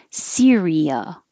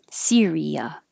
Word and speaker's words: Syria: This is also three syllables. Syria. Syria.